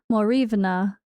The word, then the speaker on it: Morevna: Like So we want to say as an American, Maria Morevna, but I think I was just reading someone's pronunciation that is Russian, and it would be like Maria Morivna instead. Maria Morivna. That sounds way more cool, doesn't it?